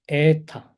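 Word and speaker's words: ἦτα: 그 다음에 에타. 에탄에서 이 에타는 에는 장음으로 발음하셔야 됩니다.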